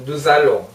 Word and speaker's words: nous allons: "jalon" 이 아니라 "nous allons" 입니다 . 발음 에 주의 하는 것 을 잊지 마세요 .